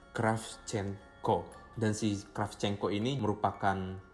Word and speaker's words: Kravchenko: Yaitu bacanya Kravchenko.